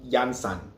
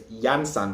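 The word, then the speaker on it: Iansã: So Oya, there's Yansan. When you're saying Yansan, meaning mother of 9, the emphasis is on the first A. Yansan, not Yansan. Yansan.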